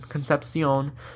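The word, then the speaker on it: Concepcion: for State Casey concepion was the guy's name concepion that's how you say it it's a great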